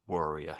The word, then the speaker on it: warrior: Warrior. So, they look similar, don't they? But there's different letters in there and almost the same pronunciate. Well, they are the same. I think they are the same pronunciation really, aren't they?